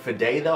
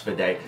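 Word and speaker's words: Fedde: a big fan of Eric fideo I believe it's pronounced for day I've been watching his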